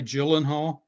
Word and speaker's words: Gyllenhaal: It's pronounced J.I. Gyllenhaal. J.I. It's a Swedish Gyllenhaal.